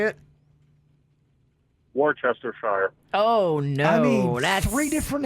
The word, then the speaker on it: Worcestershire: to shire how do you say it ashley worse desire okay worse to shine like jordy foster though damon from boca how do you say it worse for sure worse to sure see i hear that so